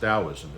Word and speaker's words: Taoism: of Daoism taoism looks like taism but it's pronounced Daoism and the founder was La I've talked about